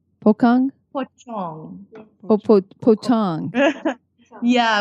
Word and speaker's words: pocong: There's also another thing that's called a pokong. Pokong? Pochong. Pochong. Yeah, whenever you see a C in a Bahasa Melayu word, they pronounce the C as a ch.